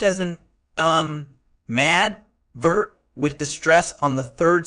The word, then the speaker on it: animadvert: word type an advert is a verb it's pronounced as an um mad vert with distress on the third syllable meaning to